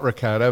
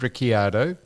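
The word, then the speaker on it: Ricciardo: It's not Ricardo. He's Rickiardo. It's I A Rio.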